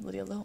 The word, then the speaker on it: Lydia Low: It's going to be called Undertow, because it rhymes with my name, Lydia Low Undertow.